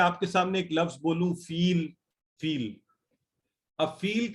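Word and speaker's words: فيل: अच्छा, तो ये प्रोनाउंस होता है फील, और फा या लाम से है, और इसकी शेप ये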